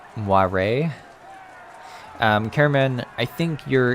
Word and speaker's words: moire: that that's the cheering moyer is french pronounced moire um cameron i think